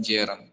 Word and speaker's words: gerund: bukan bahasa Inggris gitu gerun tulisannya car bacanya Jen ya Nah kita belajar